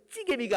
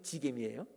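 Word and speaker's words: 지게미: 사전 찾아봤더니 찌개미가 아니고 지개미더라고. 지자라고 써요. 저는 술찌개미. 찌개미 앞에 찾아도 없어. 그러니까 지개미예요.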